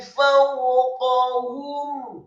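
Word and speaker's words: فَوْقَهُمْ: Kemudian ila tayri fawqahum, kata fawqahum, fa-nya dibaca fathah satu harokat, kemudian wawunya dibaca sukun. Fawqahum, qafnya dibaca tafkhim tebal fathah satu harokat, kemudian ha-nya dibaca tafkhim tebal dhammah satu harokat, dan mimnya dibaca sukun.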